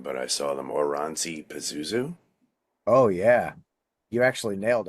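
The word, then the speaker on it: Oranssi Pazuzu: I want to say, now I'm going to get the name wrong, but I saw them Oranzi Pazuzu.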